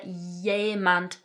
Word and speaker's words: jemand: So notice pronunciation wise that this 'j' here is making a 'y' sound. "Spricht hier jemand Englisch?"